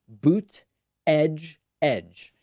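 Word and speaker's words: Buttigieg: came out and said it's very easy it's three words boot edge edge and so i've just been pronouncing it that way pete boot edge edge even though i'm not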